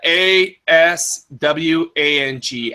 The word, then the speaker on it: Aswang: help sir liner for a minute it's a a s w ang alpha Sierra whiskey alpha November golf another way to spell it is alpha Sierra uniform whiskey alpha November